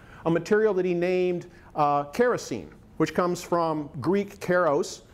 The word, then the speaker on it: kerosene: material that he named kerosene which comes from Greek Karos meaning wax and elli and Elyon meaning oil and he changed the second syllable to een so his commercial product